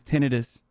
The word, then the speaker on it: tinnitus: out that the way the proper way to say tinnitus is tinnitus military celibacy means this